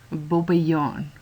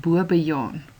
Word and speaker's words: bobbejaan: Met bobbejaan is dit belangrik dat jy daarop let. Die kort O word gevolg deur 'n dubbel B. As jy hom egter net met een B sou spel, dan was dit bobejaan. Maar hierdie is bobbejaan, want dit is 'n kort O.